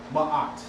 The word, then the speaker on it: Ma'at: So we say Ma'at.